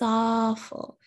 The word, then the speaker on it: awful: out that's awful and notice on the word awful it's spelled with a w but i don't pronounce that w i don't say ow or anything like that just ah that's awful that's awful the same